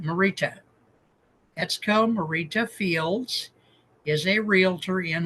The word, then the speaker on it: Morita: and say hey dude be more respectful etco marito is it it's Marita Marita etco Marita Fields is a realtor in Hau and I